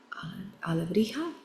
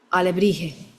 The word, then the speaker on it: alebrije: The Mexican Alebrija or alebri, how do you spell that? Alebrije. They look like alebrijes.